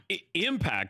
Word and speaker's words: impact: You have the accent on the wrong syllable. I said it didn't impact. You said impact. I said impact.